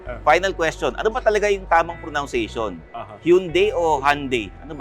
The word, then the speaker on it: Hyundai: question pronation hund or Hyundai actually pronunciation is Hyundai just like Sunday ah hyund just like